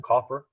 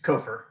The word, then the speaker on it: Kofer: Is it Coffer? It's Kofer. Kofer.